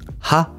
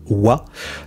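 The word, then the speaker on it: は: Quand on parle de la particule du thème, hein, on écrit ha, mais on prononce wa.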